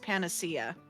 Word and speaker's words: panacea: It's pronounced panacea.